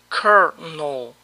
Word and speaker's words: colonel: Esta palabra se pronuncia como si la primera L fuera R. Colonel.